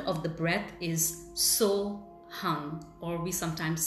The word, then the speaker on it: Hung: last sound, which is Hung. It's spelled as H-U-N-G, but it's pronounced as Hung, and is the infinite, vibrating and real. Hung suggests 2 sounds, 2 syllables.